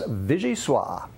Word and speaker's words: Vichyssoise: And now Dan is here with a class in French pronunciation. Dan? That's right, Kara. Today's word is Vichyssoise, Vichyssoise, which is actually just a fancy French word for cold potato soup.